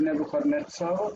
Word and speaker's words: Nebuchadnezzar: So I've marked here that the tonic stress on the word Nebuchadnezzar is on the netz syllable, and that would make